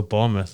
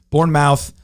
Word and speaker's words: Bournemouth: bournemouth there you go bournemouth look at that look at that excellent pronunciation as well born mouth all right uh that